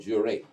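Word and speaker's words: juré: It was some music that they called Jure, Jure, with an accent on the E.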